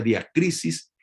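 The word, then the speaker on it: διάκρισις: Entonces, el discernimiento es una palabra del griego que se pronuncia diacrisis y significa distinguiendo discerniendo y juzgando a la vez.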